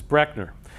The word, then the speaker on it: Breckner: of the name so my last name is actually mispronounced by almost everybody that's the way it's actually pronounced is brechner so if you take